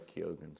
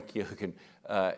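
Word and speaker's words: Keoghan: same age and and Barry Keegan very key ogen so I've been mispronouncing his name for years now very key again he looks younger than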